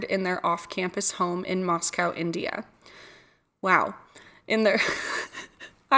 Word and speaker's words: Moscow: I watched a documentary on it last night and uh it's definitely pronounced Moscow.